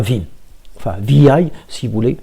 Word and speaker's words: vi: ils vous disent ici Vim, il s'agit d'une version améliorée de l'un des plus anciens éditeurs console qui s'appelle VI, donc prononcé en English VI.